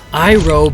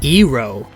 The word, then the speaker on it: Iroh: The pronunciation of character names was completely wrong. Aang became Ong. Iroh became Ero.